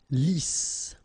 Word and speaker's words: lisse: Double S here, so it's really a strong S. Lisse.